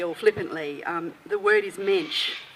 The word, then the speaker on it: mensch: The word is mensch. It rhymes with bench.